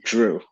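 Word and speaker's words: Jrue: name by the way Drew you see it's just like Drew Brees Drew holiday right Drew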